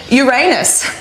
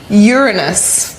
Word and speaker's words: Uranus: planetarium, and that is Uranus. But did you know it's actually pronounced Uranus, which I also think is pretty funny.